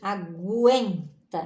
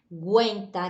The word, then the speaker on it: aguenta: é g aguenta né na verdade não é o gui mas aguenta que a gente tem até um sonzinho da letra u né na pronúncia aguenta até parece né então fica gwen tenta então tem um som nasal ali por causa do mc